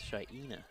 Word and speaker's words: Shaina: It's Shaina. That's how you pronounce it.